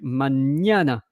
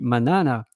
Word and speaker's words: mañana: It's to say, don't pronounce me like an N, pronounce me like a N, like mañana, because else it would be manana.